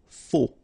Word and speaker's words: faux: Okay, final X not pronounced, then you get this AU together, O, faux.